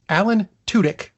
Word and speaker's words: Alan Tudyk: ways of pronouncing it I heard a definitive version it's Alan Tudyk I am passing that